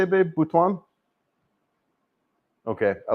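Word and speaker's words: Butuan: Bhwan.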